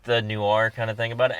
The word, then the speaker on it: noir: I also have a hard time saying noir. It's the LA Noir. Say it again. Noir. Noir. Noir. Noir. Noir. You have to kind of say it like that.